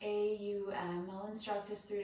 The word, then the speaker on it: Om: our practice with three sounds of ohm pronounced au and well instruct us